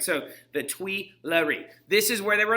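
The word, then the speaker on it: Tuileries: to spell that this place is called the twi larry all right and tweelery is spelled t u i t-u-i-l-l-i-e-r-e-s all right so the twee larry this is where they were under house arrest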